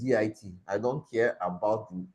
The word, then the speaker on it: git: l i okay um some people call it get jet whatever but it's git I don't care about